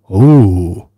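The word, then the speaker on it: Ooo: Ahoy, the land of ooh. Oh. That's pronounced oh.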